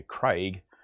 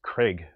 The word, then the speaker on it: Craig: would say in Australia Craig but what in America they seemed to pronounce Craig like it rhymes with Greg or something that he